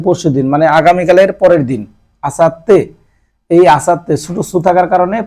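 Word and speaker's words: 明後日: মানে হচ্ছে আগামী পরশুদিন মানে আগামীকালের পরের দিন আসাত্তে এই আসাতে ছোট থাকার কারণে পরেরটার সাথে ডাবল উচ্চারণ আসাতে আসাতে মানে হচ্ছে আগামী পরশুদিন তারপরটা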